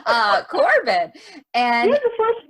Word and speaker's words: Corbin: my first name and how do you say the last name corbin it has r in it right corbin i see the r i guess i'm just not saying it uh corbin and he was the